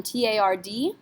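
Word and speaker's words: tard: And then our last one, T-A-R-D. Nope, not a careful letter. We would say tar.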